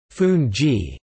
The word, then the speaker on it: fungie: The national dish is fungi, pronounced fungi, and pepper.